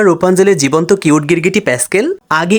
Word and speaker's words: Rapunzel: colour করা তার আগে রাপুঞ্জেল নাকি রুপাঞ্জল সেটা বলি ইংরেজি ল্যাঙ্গুয়েজে অনেকেই দেখা যায় স্পেলিং অনুযায়ী প্রোনাউন্সিয়েশন সবসময় হয় না এটাতেও তাই আর এ দিয়ে শুরু হলেও রাপুঞ্জেল না হয়ে রুপাঞ্জলি হবে মুভিতেও রুপাঞ্জলি বলে যারা